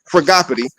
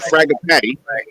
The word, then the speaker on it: Fragapati: We're gonna go to the book of Fragapati, not Fragapatty. I thought a Fragapatty was a Fragapati. Fragapatty. Say it with me, Fragapati.